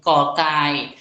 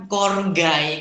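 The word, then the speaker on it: ก ไก่: dengan kategori eh kategorinya kita sebut kokai eh kita jangan baca korgai Kenapa karena kita fokusnya kepada bunyi bukan peromanisasian ini yang sering banyak sekali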